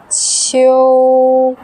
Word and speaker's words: 秋: Qiu, qiu, qiu. Great. For example, the name of 行秋 should be pronounced as 行秋, 行秋.